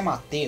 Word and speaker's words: Mate: Na verdade, a pronúncia é Mate, né?